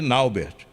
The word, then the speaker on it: Nauber: todo mundo tratava de Naubert, não é? E a mãe insistiu com os narradores. Não, meu filho não chama Naubert, ele chama Nauber. Pronúncia certa.